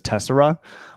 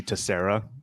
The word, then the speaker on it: Tessera: I think internally the team says Tessera, but we also see Tessera or hear Tessera a lot.